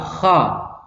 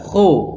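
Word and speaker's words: خ: Kho, tidak boleh, tapi kha. Itu yang kedua. Kesalahan yang ketiga adalah menjadi hak tebal. Ini tidak boleh. Jadi bacanya kha tapi ngucapnya di sama dengan huruf h, yang h ini, yang h ini. Jadi menjadi kha, tidak boleh. Jadi harus dibaca kha.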